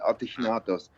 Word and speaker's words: Ategnatos: It's Ategnatos. Is that close? Yeah, very much, actually. The only thing is that in Gaulish language, the G is pronounced as a so it's actually Ategnatos.